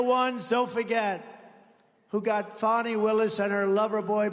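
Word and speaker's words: Fani: have to pronounce it fonnie it's called Fanny you have to pronounce fonnie I don't know how she get she should add a little u in there someplace if she wants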